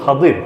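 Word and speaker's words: خضر: সূরা কাহফের 74 number আয়াতযে মুসা এবং খাজির আলাইহিস সালাম অনেকে খিজির বলে। মূল উচ্চারণ হল খাদির।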